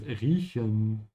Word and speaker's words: riechen: The verb here is riechen, to smell. Make sure your mouth is open in the middle.